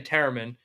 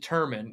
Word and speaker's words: Tereman: So my last name Tereman. Some people pronounce it Terman, even people in my family.